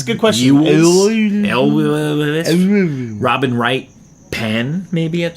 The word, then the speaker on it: Elwes: Elwes.